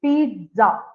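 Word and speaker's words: pizza: pronunciation Ina it is pza okay you have to pronounce the T before the Z comes okay so the actual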